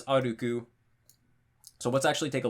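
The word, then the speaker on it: 歩く: It means that the accent drop happens after the second mora, so it's aruku, just like it says right here.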